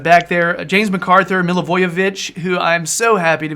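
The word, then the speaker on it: Milivojević: ward playing outside back there a James MacArthur mill avoid vich who I'm so happy to be able to say his name and not butcher it the way I used to get millage of no Milla Jovovich no no Milla voyage coup yacht a Meyer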